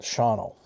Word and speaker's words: Shawano: a hair north of Shauno, Wisconsin. It's spelled Shawano, but the it's the Indian um reservation up there, they call it Shauno.